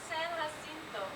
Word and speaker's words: San Jacinto: Mount San Jacinto. You don't pronounce the J's, huh?